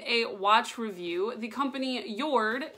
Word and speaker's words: Jord: here today with a watch review the company yourd it's spelled J o Rd but it is brown